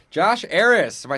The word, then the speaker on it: Arras: Josh Arras. If I say your name right, I always screw it up. That is correct. Josh Arras. Josh Arras.